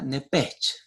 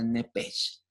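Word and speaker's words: nephesh: carne, la palabra vida en el hebreo se pronuncia nepech, N-E-P-H-E-S-H, por si usted lo quiere anotar. La palabra vida en el hebreo se pronuncia nepech y significa literalmente alma, asiento de las emociones y las pasiones.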